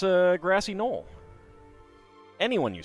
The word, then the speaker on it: gnoll: Why does no one pronounce the G's? Because they're not supposed to be pronounced. You know, it's a grassy knoll.